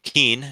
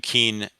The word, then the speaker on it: Keene: Number 1, in parts of New Jersey, Keene, New Hampshire, and Kane, New Jersey, are pronounced the same.